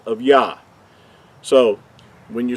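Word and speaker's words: יה: So going back to the first two letters, we know that the first two letters are pronounced as Yah.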